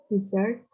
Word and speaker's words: dessert: Desert, dessert. Excellent. Very good. So in here, the first one, she said desert, right? But in the second one, you said dessert.